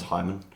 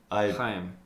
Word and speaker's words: Haim: Yeah, but have you been listening to anything other than Haim? Or how is it pronounced? Haim? Haim. The danger of pronouncing it as Hyman.